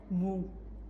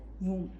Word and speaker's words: womb: Actually it is womb. It is വൂം. B silent ആണ്, നമ്മളെ പ്ലംബറിനെ പോലെ തന്നെ, പ്ലംബർ പോലെ ഇവിടെ വൂം.